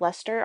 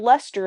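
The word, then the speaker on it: Leicester: out loud and it had the word Lester in it. And guess what? I didn't pronounce correctly, the word Lester. Because it doesn't look like Lester phonetically to me.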